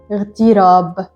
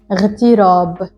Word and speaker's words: اغتراب: And you have to remember while reading this word that this Alif is not pronounced. So you start the word with the letter ghain and you say اغتراب. اغتراب.